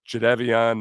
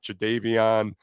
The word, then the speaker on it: Jadeveon: It's also pronounced Jadeveon, not Jadavion.